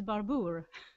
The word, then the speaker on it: Barber: It's actually my husband's surname, and it's Barber. But it comes from France. It's a French name. So, of course, the French pronunciation is Barbour.